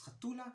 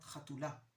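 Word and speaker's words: חתולה: One is we use the feminine form more, and the second difference is that we use penultimate stress. So it's chatula, not chatula, which is the more general way of speaking.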